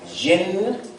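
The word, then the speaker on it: ج: Jim yes Jim now I don't want you to pronounce it like the English day I want you to pronounce it like the French Jay you know that sweet like Jacques Jim that's how it should be pronounced so you began to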